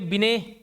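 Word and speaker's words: Binet: मैंने बताया अल्फ्रेड बिने बिनेय साहब थे बिनेट है वो टी साइलेंट है बिने है ठीक है चार्ल्स स्पियरमन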